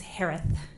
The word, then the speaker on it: Herath: Last name is pronounced like Harris with a lisp. It's Herath.